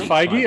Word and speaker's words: Feige: Kevin Feige, yeah. Feige. Is it Feige? I thought it was Feige, like an H sound.